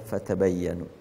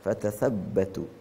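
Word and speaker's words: فتبينوا: yang benar klarifikasi tabayyun ada bacaan tabayyanu ada bacaan tatabbatu apabila qiraat yang kita pakai yaitu qiraat asim dengan riwayat hafas itu membacanya adalah fatabayyanu namun ada qiraat yang lain seperti Hamzah al-kisai bacaannya adalah fatatabbatu fatabayyanu menyuruh kita bersabar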